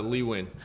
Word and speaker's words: Lee Nguyen: name because I if I if if I mispronounce it I will feel terrible all good yes it's Lee win that's what I thought but I've I've heard